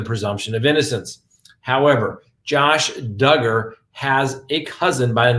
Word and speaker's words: Duggar: first on the docket josh duggar that's right rhymes with hugger as we know one